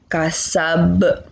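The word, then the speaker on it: كسب: Kasab. Ba-nya yang kalian perhatikan. Ba ditertulisnya itu harokatnya fathah, karena kita ingin mewakafkan, kita ingin menghentikan, maka kita bacanya mati atau sukun.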